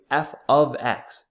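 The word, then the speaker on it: f(x): okay a couple things make sure we're pronouncing it correctly f ofx g of X understand that now Y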